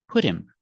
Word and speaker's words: put him: him on a diet pronunciation put him put him his doctor put him on a diet we see the H is silent and the T sounds like a fast D because it's between vowels phonetically put him put